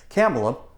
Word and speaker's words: Kamala: there's apparently a uh you're actually supposed to uh pronounce it camela uh no I refuse you don't get to tell me how I pronounce things all right if you didn't write the Oxford dictionary you are't Jr or tolken you didn't write it I will pronounce her name Camala or Campa regardless Don Lemon is